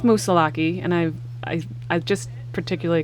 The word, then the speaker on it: Moosilauke: get into it so is it musa lock or musa what are you going with i'm going with musa and i i just